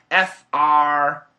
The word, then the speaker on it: frame: I want to know the difference between F-R-A-M-E and F-L-A-M-E. So obviously the meaning is different, F-R-A-M-E and F-L-A-M-E. It's the pronunciation, frame, flame, frame, flame.